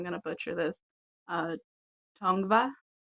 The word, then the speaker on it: Tongva: land I'm settled on and I believe it's pronounced I feel like I'm going to buture this uh tongva t o n g v a um it